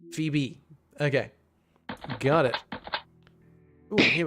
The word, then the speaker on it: Phoebe: I know some people like don't really pronounce the E on the end.